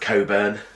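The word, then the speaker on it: Cockburn: world of Wonders and I'm so grateful that his name is pronounced Coburn because it could be really painful this is big circumstance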